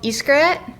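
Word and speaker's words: Xcaret: So I will tell you, it's called Iskret. Okay. I'm probably saying it wrong because it's like maybe Spanish pronunciation, but it's like X and then carrot.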